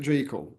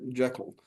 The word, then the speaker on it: Jekyll: uh confusion with people where we see it spelled with a c j e c k when people haven't seen it written properly and they just presume it's it's got a seen it Jackal yeah but but the certainly this the pronunciation